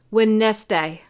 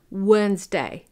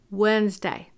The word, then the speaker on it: Wednesday: students would pronounce it when nest day but it's Wednesday you don't hear the D okay Wednesday alright the month of